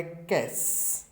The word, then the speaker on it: cache: इसका उच्चारण है कैस। इसका उच्चारण क्या है?